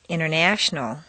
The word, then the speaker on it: international: the button exercise 47 rule five the silent t t and N are so close in the mouth that the T can simply disappear repeat one interview two